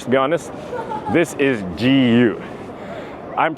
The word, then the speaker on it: GU: brand you can say you can pronounce it properly it's called gu and not goo to those of you